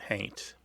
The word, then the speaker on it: haint: Somebody might spell it H-A-U-N-T but pronounce it haint.